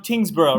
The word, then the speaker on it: Tyngsborough: Tyngsborough, right? Is that how you pronounce it?